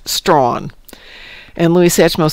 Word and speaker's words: Strahan: WC says Tasmania has a town called Strahan, pronounced Strawn.